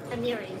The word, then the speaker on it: Amiri: How do you pronounce it? Amari? Amiri. Amiri. Yeah.